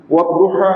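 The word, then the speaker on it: والضحى: Dia uzur lah tu, tak boleh baca wadduhai ataupun wadduhai ataupun wadduhi, tak boleh. Sebab dia itu huruf ataupun kalimah yang kekal keadaannya walaupun duduk dalam ayat yang sifatnya apapun. Begitu bacanya.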